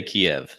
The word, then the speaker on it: Kyiv: Yeah, the Ukrainians say Kyiv and the Russians say Kiev. So either one's good.